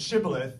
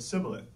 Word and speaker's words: shibboleth: And says the good book, the Gileadites said shibboleth, the Ephraimites said sibboleth. So if he said sibboleth, not being able to give the proper pronunciation, they would seize him